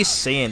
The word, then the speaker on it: Saiyan: Because I just now noticed, like, when they say Saiyan, they don't say it, they say it without the I in the name.